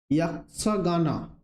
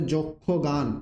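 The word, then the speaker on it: ಯಕ್ಷಗಾನ: ইয়াক্ষগানা, বা বাংলাতে যদি আমরা এটা উচ্চারণ করি তাহলে হবে যক্ষগান, একটি বিখ্যাত প্রচলিত লোকনৃত্য।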